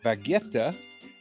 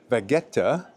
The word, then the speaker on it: Vegueta: Today, we're exploring the two distinct hearts of this island capital, the historic Vegueta and the grand walkable streets of Triana.